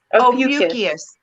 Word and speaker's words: Ophiuchus: Ophiuchus. Ophiuchus, and it's spelled Is the serpent's tail?